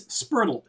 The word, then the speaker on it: Spurtle: It's the same thing, like a turtle, official- but it's Spurtle. And then the official Okay.